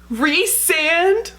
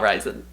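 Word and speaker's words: Rhysand: wait wait i just this is a pronunciation guide re-sand no no no no no that can't be right you're telling me this is not ryzen prythian oh i don't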